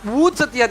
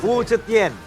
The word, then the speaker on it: Wu Zetian: Wu Zetian is really a broken hero at MLBB. Oh, you've China. tried? Yeah. Can you pronounce it again? Wu Zetian. Wu Zetian. Wu Zetian. Wu Chetien.